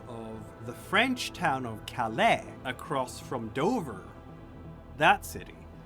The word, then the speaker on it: Calais: But it's Calais, Maine, not Calais, Maine. So there's gonna be some weird pronunciation for Montpellier as well.